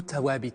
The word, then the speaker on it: Thawābit: Dans de nombreux discours officiel, on entend souvent ce terme ou tawabit si l'on prononce à la marocaine.